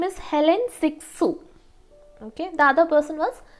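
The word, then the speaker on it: Hélène Cixous: so there is another critic her name is Helen siksu pronunciation might be a bit difficult for you her name is Helen siksu okay the other person was Simon that is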